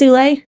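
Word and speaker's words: Ouellet: It is ule. Okay. Yeah, the T is silent unless there's a vowel after it.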